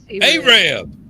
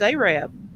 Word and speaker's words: Arab: there is the town spelled Arab. Arab. No, don't you dare call it that, Why? because they'll correct you. It's like Lafayette and Lafayette, world of difference. In Alabama, Yeah, it's Arab. That's how they say it.